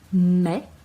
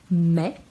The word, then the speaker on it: mai: Février, mars, e a gente pronuncia o S, mars, avril, com L bem pronunciado, avril, mai, aí com som de E, mai, juin, IN com som